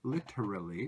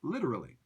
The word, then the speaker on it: literally: to talk about literally if you pronounce it super clearly then it sounds like literally but native English speakers say literally and I just want